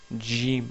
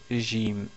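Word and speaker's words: جيم: Il faut essayer de prononcer Jim au lieu de Jim. Donc c'est Jim, Jim. Vous attachez votre langue au palais.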